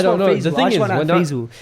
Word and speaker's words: Faisal: In Arabic, someone told me that my name is pronounced Faisal. Yeah, like fair.